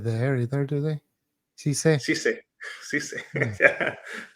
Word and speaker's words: CCalle: CCalle. Yeah, they pronounce it with the S.